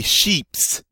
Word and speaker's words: chips: I'm sorry, I'm supposed to pronounce the S on this one. Please forgive me. Les sheeps.